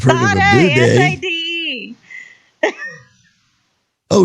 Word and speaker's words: Sade: S-A-D-E. Oh, Sadie. No, it's not Sadie. It's Sade.